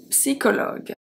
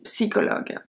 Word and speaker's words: psychologue: We have une psychologue, psychologue. We don't say psychologist, we say psy. So we have the P at the beginning that we pronounce. Une psychologue.